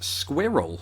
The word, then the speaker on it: squirrel: now squirrel squirrel squirrel and then I realized how Americans say it and it's more like squirrel kind of sounds like you're pronouncing the word squirrel with a bunch of nuts in your mouth which is what squirrels